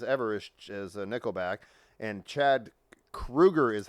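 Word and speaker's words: Chad Kroeger: is is Nickelback and Chad Krueger is how you pronounce it it's not Chad Kroger is it Krueger it's Krueger but even though it has an o but it's a German name yeah so that's why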